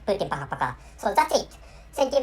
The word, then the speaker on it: пока: so and this is this Russian language is pronounced Putin Paka so that's it thank you very much for